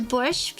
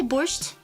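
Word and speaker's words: borscht: Everyone know says borch. Some people say borched, but I've never met like a Russian or Ukrainian speaker says borched. It's like how Toronto say Toronto. That's borch. Blood soup is redder than this.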